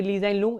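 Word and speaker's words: Lee Hsien Loong: है ली जाइन लूंग, यहाँ पे H साइलेंट है, ये ली जाइन लूंग, इन्हें बनाया गया सिंगापुर का भी नया प्राइम मिनिस्टर।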